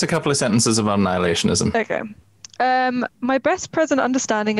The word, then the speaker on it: Annihilationism: Annihilationism. Is that how I say it? Annihilationism. Annihilationism. It feels like it should have another syllable in there, but it doesn't.